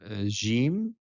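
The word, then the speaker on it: ج: So we know that most Arabic country pronounce it as Jim, but some countries like Egypt and Yemen still pronounce it as G. Gamal Abdel Nasser, for example, or Jamal Abdel Nasser.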